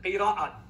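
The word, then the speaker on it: قراءات: various Arabic readings called Qirat. Some pronounce it Qira'at.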